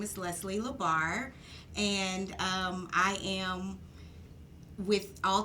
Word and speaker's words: Leslie LaBarre: sure hello everyone out there my name is leslie labar and i am with all type insurance and